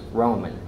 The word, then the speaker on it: Roman: they quickly corrected me it's not Raymond it's Roman and so Howard had